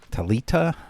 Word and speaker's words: Thalita: we've got the newest Survivor talita I I believe that's the current uh correct uh pronunciation of her name the H is silent um yeah that sounds the